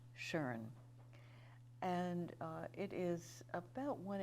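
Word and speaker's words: Tjörn: spell that it's t j o umlaut RN pronounced Sharon and it is about one hour north of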